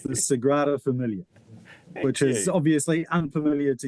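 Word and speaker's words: Sagrada Família: Let's start with pronunciation of that, Ryan. So it's the Sigraa Familiar which is obviously unfamiliar to you.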